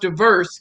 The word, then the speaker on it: DVRS: Shamiko Early Coleman, DVRS pronounced diverse stock is a micro stock photography collection service focusing on authentic, diverse, and inclusive imagery.